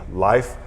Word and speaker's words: Leif: god rest her soul she would actually say my name life which is very you know very norwegian very nordic and so so